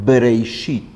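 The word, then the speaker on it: בראשית: Y la pronunciación de Breishit es justo la pronunciación labial, Breishit. La Bet que tiene esta pronunciación de la forma labial está expresada con una Bet que tiene un punto, el punto que es este dagesh, y que hace que el sonido sea B.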